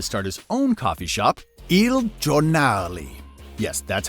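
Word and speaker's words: Il Giornale: left Starbucks to start his own coffee shop e jali yes that's how you pronounce it don't fight me on this anyway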